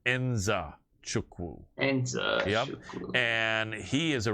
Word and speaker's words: Nzechukwu: and I remember him telling me how to pronounce his last name. Kennedy Nzechukwu. And that is how you pronounce his name. Nzechukwu.